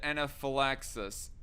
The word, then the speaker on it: anaphylaxis: down stop it um for future reference it's pronounced it anaphylaxis all right thanks uh for the information right